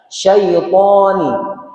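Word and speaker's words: شيطان: Ada huruf sya ya, bukan sin tapi syaitani thnya tebal sanya tafasyi ya.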